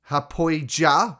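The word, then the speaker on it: Haapoja: Look up Matty Hapoya. It's spelt with a J. Hapoya, right?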